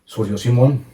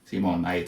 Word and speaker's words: Simón: Simón The badger - Simón everything is fine Simón - Nothing about Saimon, it's Simón!, that's right - Very good, so the name is from Colombia, what part of Colombia are you from?